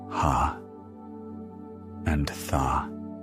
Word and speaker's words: hatha: Ha. Two syllables. Ha and tha.